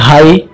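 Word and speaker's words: high: जैसे आप यहाँ ये हाई और राइट पढ़ते हैं, तो इसमें आपको देखो जी एच इस सब का उच्चारण नहीं हो रहा।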